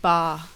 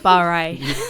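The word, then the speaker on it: barre: but it's yeah Pilates and bar not bar a that's a fit there's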